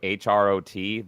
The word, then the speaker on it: Hrot: if Quake is your game, by the way, check out HROT. That is like Hrot. it's similar to Dusk. Oh, sorry, did I say it wrong? I just called It's Hrot. It's Czech. just call- It's Czech.